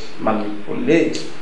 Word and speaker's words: manipulate: some people pronounce it manipulate. Okay, so but the pronunciation manipulate has stress on the second syllable.